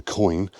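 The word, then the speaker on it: quoin: a wall is a coin. But they said something I didn't know, and that is that coin is spelled Q-U-I-O-N rather than C-I-O-N, O-I-N.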